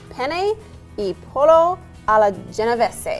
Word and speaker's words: Penne e pollo alla Genovese: Now, whether or not I can pronounce it right, that's the question. Penne e pollo alla Genovese.